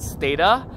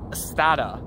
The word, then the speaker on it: Stata: guide manual, it says that we're supposed to pronounce it Stata. But in fact, everyone says Stata, which is like incorrect, I guess, because, you know, the people it was named after, surnames are actually pronounced Stata rather than Stata.